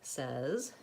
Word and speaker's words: says: of all is that very frequently you might see the word says and it looks just like the word say and in the word say the vowel sound is a so Y in this word is that instead of a well that's one of the inconsistencies of American spelling I highly recommend